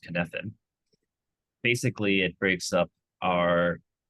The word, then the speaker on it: Cynefin: It's a Welsh word, spelled Cynefin, but it's pronounced Cynefin.